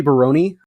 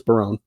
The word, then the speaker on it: Barone: I believe that's how it's pronounced. It might be Baroni. I don't think it's Baroni though. I'm pretty sure it's Barone.